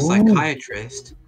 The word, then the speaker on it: psychiatrist: in what's like a psychiatrist the p is silent when it's like a